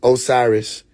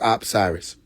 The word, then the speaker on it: Osiris: Originally it is pronounced Osiris but much respect.